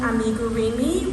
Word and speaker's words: amigurumi: And then keychains, and this is also like the amigurumi style.